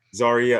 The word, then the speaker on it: Zaria: sure i have your am i pronouncing your name right yes you are zarya okay i couldn't figure zarya or zariah okay um as the